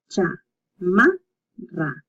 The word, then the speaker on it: chamarra: Chamarra. As you can see, this one has a double R and the CH. So cha-ma-ra. Cha-ma-ra. So the R pronunciation might be a little hard at the beginning, but keep practicing.